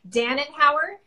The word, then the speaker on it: Danenhauer: good so let me make sure that I'm pronouncing your last name correctly Dannan power yeah okay good well I really appreciate you